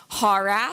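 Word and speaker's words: HAWRAF: hopes that it will help all of you pronounce hoorah so it's kind of ha rhymes with saw RAF RAF - the T ha RAF hopefully that's helpful for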